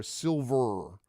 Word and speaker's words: Silvyr: silver Tower and it's important to note it is spelled by the adventure designer s i l v yr so to be clear silver okay like very very important to recognize that's